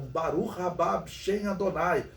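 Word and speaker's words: בָּרוּךְ הַבָּא בְּשֵׁם אֲדֹנָי: viriam né essa expressão em hebraico ele sempre pronunciavam barulho bichen Adonai porque segundo a profecia era o que eles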